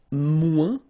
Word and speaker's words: moins: Then if you want to say less, it's moins in French. So no discussion about the S here. Don't pronounce it.